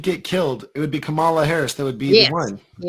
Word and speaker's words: Kamala: Kamala. It's like comma, like a comma.